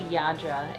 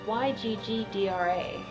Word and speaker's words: Yggdra: I said Yggdra. I say Yggdra. It can't be Yadra. It's Yggdra.